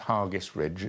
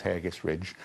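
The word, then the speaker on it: Hergest Ridge: And Hargest Ridge, I'm told it's pronounced Hargest Ridge. I thought it was Hairgest Ridge, just outside Kington.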